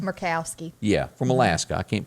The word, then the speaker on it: Murkowski: Bill Cassidy of Louisiana, Susan Collins of Maine, Lisa, how do you pronounce her name? Murkowski.